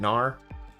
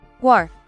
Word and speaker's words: Guar: Is it Gnar? Is that how you guys pronounce it? Guar. Oh my. It's a Guar? It's a Guar this whole time?